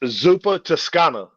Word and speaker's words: Zuppa Toscana: How did you pronounce it? It's Zuppa Toscana.